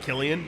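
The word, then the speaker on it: Cillian: oh that makes sense pronounced like Killian you're probably right uh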